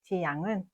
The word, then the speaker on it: 지양: 히읗과 이응의 차이로 정반대의 뜻이 됩니다. 따라서 지향과 지양은 발음과 표기를 모두 정확히 구분하여 사용해야 합니다.